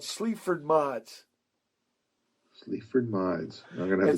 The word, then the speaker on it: Sleaford Mods: it's spelled Sleaford, next word Mods, MODS. Sleaford Mods.